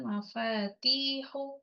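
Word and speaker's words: مَفَاتِيحُ: Silakan dihafalkan mafatihu. Hati-hati bacanya, panjangkan.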